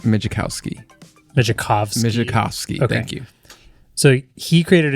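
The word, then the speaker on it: Migicovsky: I'm going to do you know how to pronounce his last name mski no I'm going to try yeah M mikowski mikov mikowski thank you so he created a new company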